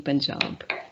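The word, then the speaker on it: Panjab: um persian form uh it will be pronounced as it should be written as p a p-a-n-j-a-b punjab and uh for your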